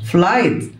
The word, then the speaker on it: flight: رحلة طويلة flight. الجول اتش سايلنت flight.